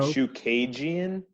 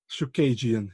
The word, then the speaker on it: Chookagian: to Drake Ricks, because we now know how we have to pronounce Caitlin Chookagian. He asked her in the interview how he should pronounce it. So now we know. Chookagian? Chookagian, yeah.